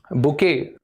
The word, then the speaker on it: bouquet: बुके word नीचे शायद दिख नहीं रहा होगा आपको, बुके, BOUQUET, बुके बोलते हैं इसको। इस वर्ड का स्पेलिंग थोड़ा अलग होता है, प्रोनाउंसिएशन, लेकिन बुके होता है।